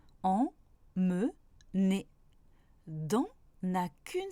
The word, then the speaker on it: emmener: Par exemple, emmener a 3 syllabes. En, me, né.